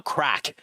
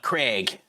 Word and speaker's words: Craic: Like my name, my original name, like even even the name I'm going with now, Crack. Uh tons of people call it Craig and Craig, you know.